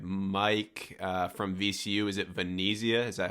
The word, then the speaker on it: Venezia: Is it Venezia? Is that how you say it? Yep, Mike Venezia.